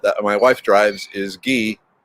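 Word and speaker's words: Guy: my wife drives is ghee g-u-y but pronounced in the french way um yep my favorite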